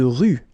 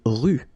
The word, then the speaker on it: rue: Une rue. Okay, remember final not pronounced. Une rue.